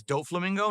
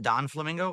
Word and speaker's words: Doflamingo: It's Doflamingo, not Don Flamingo?